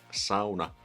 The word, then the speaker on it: sauna: English speakers pronounce sauna, sauna. You know, sauna is the pinnacle of the Finnish culture. sauna. You want to pronounce that right. Sauna, not sauna.